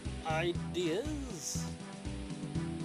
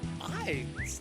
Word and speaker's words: Ides: The ideas... No, the Ides, not ideas. I've been saying it wrong.